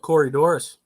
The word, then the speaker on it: Corydoras: What, Corydoras?